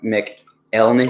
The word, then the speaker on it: McElhenney: Rob McElhenney.